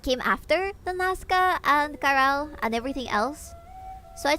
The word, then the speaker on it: Caral: It's pronounced Caral. It's written like this. Kirill.